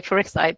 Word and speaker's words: Farisai: Uh, we used to say Farisai, but yeah, absolutely.